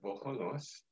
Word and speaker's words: Bohonos: The original Ukrainian pronunciation is Bohonos. And that means God's vessel.